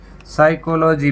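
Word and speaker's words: psychology: यू कि logy कि साइकोलोजी मनोविज्ञान अ है और यहां पर भी नहीं बोला जा रहा है इससे पहले कि आया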